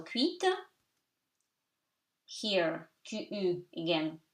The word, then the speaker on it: cuite: Here, cuite, T is pronounced because of the vowel E that reinforces it, but stays silent. So, cuite.